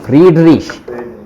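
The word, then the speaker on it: Friedrich: और ए वी एम एन एफ वी एफ वी फ्रीडरिश, फ्रेड नहीं freed, फ्रीडरिश, वो बड़ा ई बन जाता ना, आई ई।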